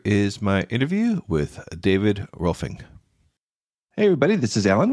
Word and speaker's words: Rohlfing: It's kind of phonetically Rohlfing, like a P-H-I-N-G. So Rohlfing. Okay, it was Rohlfing. Close. Yeah. Rohlfing. The G does come in at the end, but yeah, Rohlfing.